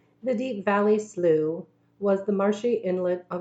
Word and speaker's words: Slough: English class that bunions slough rhymed with how miss Fowler had made